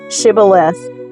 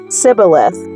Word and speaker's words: Shibboleth: If the man said, "No, I'm not," they would tell him to say, "Shibboleth." If he was from Ephraim, he would say, Sibboleth, because people from Ephraim cannot pronounce the word correctly.